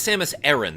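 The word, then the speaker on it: Samus Aran: It's apparently it's Samus Erin. That's how they pronounce it in Metroid Prime 3.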